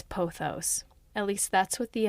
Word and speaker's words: pothos: meant to look up it's posos or poos let's see I'm going to going to double check with Google poos you guys it's poos at least that's what